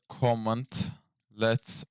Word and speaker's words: cmdlet: Şuraya da comment let olarak telaffuz edilir.